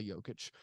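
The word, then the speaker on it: Jokić: than I say correctly it's not Nicola jokic it's Nicola jokic Nicola like my favorite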